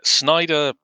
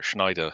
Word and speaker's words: Schneider: Yeah, Snyder Sorry, Schneider. I always mispronounce his name.